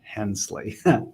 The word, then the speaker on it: Hensley: and now, let's see if I get these pronunciations right, Herrig, Vogt, and Hensley.